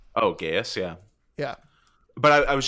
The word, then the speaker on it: geas: there's how do you pronounce it? Geas, Geos? Oh, Gaius, yeah.